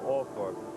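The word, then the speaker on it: Althorp: at the gates to all fourth house and here in this village they do pronounce it awful there are a couple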